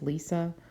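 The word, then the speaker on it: Lise: is Lee's mightner and some people pronounce that as Lisa um but from what I saw I think it's Lee's and she these two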